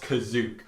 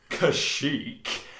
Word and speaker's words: Kashyyyk: will prove unequivocally that kazuk is pronounced kazuk not kashyyyk and i was like